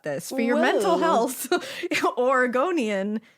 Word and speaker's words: Oregonian: Oregonian equals Oregonian.